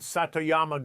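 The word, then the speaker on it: 里山: The first secret is something called Satoyama gardening, pronounced Satoyama, and it might be the most important principle you'll ever learn for growing vegetables.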